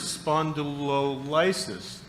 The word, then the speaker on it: spondylolysis: that's the simplest one second term is spondylolysis and the accent is on lysis he responds aloe lysis